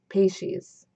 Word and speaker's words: Peixes: Peixes. It's Portuguese for fish and pronounced peixes.